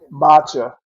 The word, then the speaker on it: matcha: you know okay you're talking Mach Mach is it m matcha is how you pronounce it yeah yeah and that